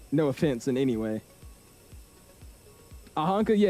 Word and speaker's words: Oaxaca: That's how it's spelled, and then it's pronounced Oaxaca.